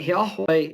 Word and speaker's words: Yahweh: research on it but yahweh is it's four syllables and it's the breathing syllables in the hebrew language so that means that